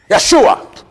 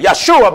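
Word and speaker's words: ישוע: Jesus the Hebrews say Yeshua the reason why they say Yeshua because one there is no J's in the Hebrew grammar Joshua is pronounced in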